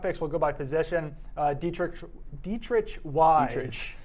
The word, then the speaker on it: Dietrich: Dietrich Wise. Dietrich. That's a tough name like to ostrich.